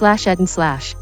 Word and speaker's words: etten: And the past participle is /ed and /.